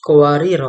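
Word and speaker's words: قواريرا: Jika Anda terpaksa berhenti pada "qawarira" di ayat 16, maka 'ra' pertama dibaca pendek dan 'ra' kedua dibaca dengan sukun.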